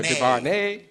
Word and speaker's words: DuVernay: Yeah, Put the nay on the end. Yeah, DuVernay.